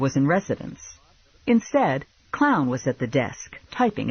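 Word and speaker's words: Kloughn: I've been hearing that it's spelled k-l-o-u-g-h-n clown could be worse Lula said you could be Albert f-u-c-h I gave clown my card I'm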